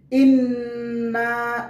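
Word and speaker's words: إنا: ইন্না এখানে গুন্নাহ করতে হবে, কারণ নুনের উপরে তাসদীদ রয়েছে বিদায় গুন্নাহ করতে হবে।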